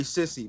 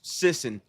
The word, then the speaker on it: Sisson: How do you say it? I call him Harry Sissy, but I'm pretty sure it's Sisson, which kind of makes sense.